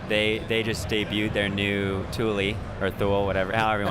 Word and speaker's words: Thule: Yeah, everyone's pronounce it Thule. Yeah, Thule. And it's like, no, it's Thule, guys.